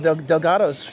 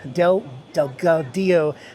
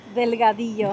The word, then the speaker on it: Delgado: This is also Angel Delgato's property. Delgado. Gosh, that's a hard name for me to pronounce. I'll let Diana say. What is it? Delgado.